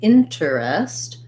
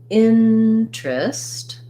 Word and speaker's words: interest: That's why I also have the word interest here for you. It's the same thing. I don't say interest, I say interest. So here's another letter E that's going to be a reduced I vowel, first syllable stress, and not 3 syllables, but 2.